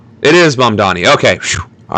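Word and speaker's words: Mamdani: Is that how it's spelled? It is Mum Donnie.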